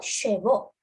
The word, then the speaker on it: chevaux: Voix, oiseau, chevaux. That is repeat. So H and X always silent.